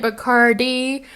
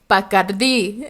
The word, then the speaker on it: Bacardi: And then they go, so, I know you've been pronouncing it Bacardi, but it's Bacardi.